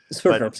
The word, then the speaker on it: Sverdrups: I don't know how to pronounce it. Sverdrups, yes.